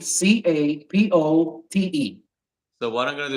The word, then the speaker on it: Capote: name, and it's spelled. That's my first name. Yeah. And my last name is Capote, Capote.